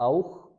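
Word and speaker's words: auch: फिर देखते हैं अगर सी एच से पहले ऊ, ओ या फिर आ जाए, ऊ, ओ या आ, तो हम इसको खे की साउंड से पढ़ेंगे। जैसे औख, नोख, बुख, नाख्त।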